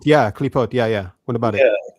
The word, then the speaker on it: Klipot: Is it Clipoth? Clipoth? Clipoth? Or Cliphoth? Do you know what I'm talking about? Klipot, yeah, Klipot, yeah.